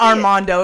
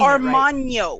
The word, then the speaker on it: Armagno: No, it's not Armando. If it was Armando, I would be I said saying Armagno. It right. Okay. Armagno? Oh, is that how you pronounce it?